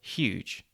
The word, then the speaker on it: huge: We actually pronounce this H not as h, but as sh, so huge.